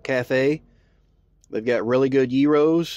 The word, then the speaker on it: gyros: called mag Greek cafe they've got really good Yos it's not pronounced Gyros it's pronounced yos and there's the fact of